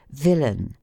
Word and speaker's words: villain: ending in AI n the accent is placed on the former syllable as villain which is pronounced as the natives of Whitechapel pronounce willing those die syllables the